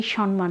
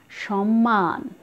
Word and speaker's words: সম্মান: এরপরে আছে এখানে ময়ের সাথে বাল্মীকি এবং সবশেষ রয়েছে, এই উচ্চারণটাও তোমাদের ভুল হয়, তোমরা অনেকেই বলো সম্মান, কোনোভাবেই সম্মান নয়, সঠিক উচ্চারণ সম্মান।